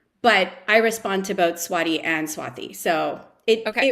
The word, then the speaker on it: Swathi: of my name but if you want the authentic way of saying it there should be an H after the T so it's actually said Swati um but I respond to both Swati and swathi so it